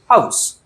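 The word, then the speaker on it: house: H silent नाहीये ठीक इथ आपला एच तो सायलेंट नाहीये हाऊस मध्ये त्याच्यामुळे तुम्हाला म्हटलो की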